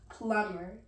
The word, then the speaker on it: plumber: Where is the B? Plumber. It's silent.